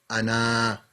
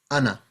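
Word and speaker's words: أنا: Uthmani script as well, it means you don't pronounce the alif. So you won't say Ana. You're not going to say Ana. It's just Ana.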